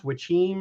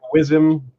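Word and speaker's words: Wyzima: the Witcher arrives in what I understand to pronounce Wychim or it looks like Wizim Wizim anyway it's also called Wizima so there's a couple names for it for we'll go with Wychim and he heads to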